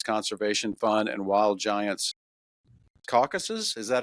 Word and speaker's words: Caucasus: It's Tanner Tripp, who's the founder of Wild Giants Conservation Fund and Wild Giants Caucasus.